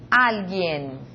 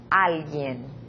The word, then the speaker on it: alguien: Esta palavra, alguien. Alguien. Observa como se pronuncia. Em português, alguém. A última sílaba é a forte. Em espanhol, alguien.